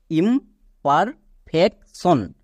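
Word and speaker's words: imperfection: এবার এখানে দেখো টি আই ও এন, এটা হচ্ছে ওয়ার্ড প্যাটার্ন, এটা আমরা সবাই জানি, এর উচ্চারণ হয় সন। তাহলে পুরোটার উচ্চারণ কি দাঁড়ালো? ইমপারফেকশন, ইমপারফেকশন।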